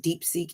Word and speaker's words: DeepSeek: DeepSeek is just like it's spelled like DeepSeek.